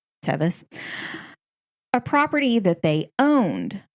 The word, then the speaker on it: Tevis: at the tevis farm i believe it's tevus or tevus it's kind of spelled like tervis without the r so tevus a property that they